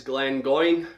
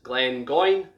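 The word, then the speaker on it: Glengoyne: glenn from the highland is glenn going quite easy to pronounce uh quite straightforward glenn again mean valley and going meaning goose so valley of the goose glenn going glenn going 21 year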